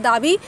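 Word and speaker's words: David: और न्योक्लासिज्म के बहुत ही इम्पोर्टेंट आर्टिस्ट है दाबी, इनका पूरा नाम है जीन लुई दाबी, ठीक है, डी उच्चारण नहीं होगा, जीन लुई दाबी पूरा आप लोग का इसमें आर्टिस्ट का नाम है।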